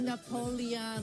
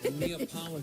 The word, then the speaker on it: Neapolitan: that is $17 and how do you pronounce that word the Napoleon no NE thank you wait hold on hold on hold on hold on hold on no Neapolitan thank you neapol it's like the ice cream the ice cream